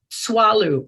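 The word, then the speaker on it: Tswalu: Its name is Swallow, and that's spelled T-S-W-A-L-U.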